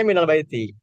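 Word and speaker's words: مِنَ الْبَيْتِ: Baiti kalau dibacanya minal baiti tapi aslinya min albaiti.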